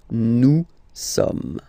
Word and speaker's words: nous sommes: So you don't pronounce the final S here. It doesn't exist. Somme. Nous sommes, okay?